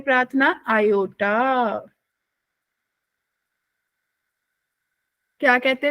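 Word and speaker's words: iota: आई को क्या प्रोनाउंस करते हैं प्रार्थना? आयोटा। क्या कहते हैं विशेष? आयोटा।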